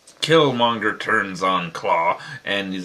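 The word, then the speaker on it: Klaue: Here, it's spelled K-L-A-U-E. Claw. Which, okay, it's more realistic. But who cares about realistic? Claw. I mean, it sounds exactly the same, so who cares?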